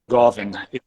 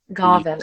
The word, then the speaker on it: Goin: by the way uh it's French uh Goin Goin okay so this is